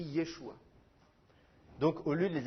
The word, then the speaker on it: Yeshua: ou Yoshua ça s'écrit Yeshua donc au lieu de les appeler Josué il faudrait faudrait essayer de les appeler G jésua ou ou jésué ou quelque chose comme ça mais les traductions